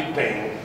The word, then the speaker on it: Payens: La città di Payen, scritto Payen, Payens, che si legge Payen, questa.